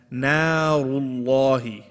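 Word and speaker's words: نار الله: Make sure the na is light. Narullahi.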